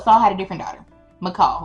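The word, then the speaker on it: Michal: McCall we going to call her MCL. It's spelled M I C H A L.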